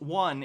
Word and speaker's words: yuan: Logarth says, the yuan, pronounced one, is the Chinese dollar.